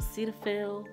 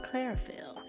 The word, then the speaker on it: Cetaphil: the lotion's name ketophil cetaphil i don't know what it's called i don't know i keep pronouncing it clairfield there's no r in it because it is